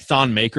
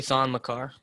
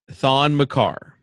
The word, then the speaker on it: Thon Maker: You're telling me a guy like Thon Maker is going to try to cover DeAndre? It's actually Thon Makar.